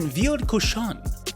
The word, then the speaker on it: Ville-de-Cochon: You start out in Ville-de-Cochon, at least that's what various French pronunciation guides taught me to say.